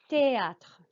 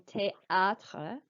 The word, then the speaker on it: théâtre: J'étudie, géographie, théâtre. Also note that the A on théâtre is pronounced like an R sound, like R.